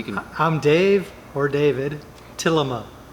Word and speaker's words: Tillema: I'm Dave or David Tillema. Tillema. Okay. Tillema.